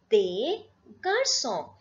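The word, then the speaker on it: des garçons: what when I say they Garcon please remember this last s is never pronounced so it is they Garcon and if I have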